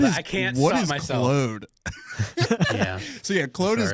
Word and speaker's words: Claude: He kept talking about Claude. I keep getting called that. I can't stop myself. Claude? Yeah. So yeah, Claude is Claude to all us non-Canadians. Claude, yes. Claude. It's spelled like a Frenchman, so I say it like a Frenchman.